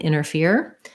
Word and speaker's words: interfere: some of the time often when there's an nt like that in the middle americans will say that more as inner um and then interfere that has the ear diphthong so so it would